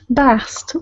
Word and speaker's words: Bast: Please be sure to put the at the end. Bast. That is the feminine pronunciation.